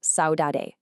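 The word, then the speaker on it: saudade: Well, the answer to our vocabulary problem is Saoade, pronounced Saoade.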